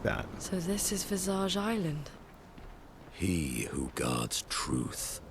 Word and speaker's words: Visage: Okay, so I guess it's French, which is why you don't pronounce the S at the end. So it's Visage.